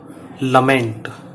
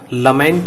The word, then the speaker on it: lament: जिसका नाम है अ लमेंट। वैसे इसका शुद्ध प्रोनाउंसिएशन लमेंट है, कुछ इसको लेमेंट बोल देते हैं, लेकिन ये वास्तव में लमेंट है।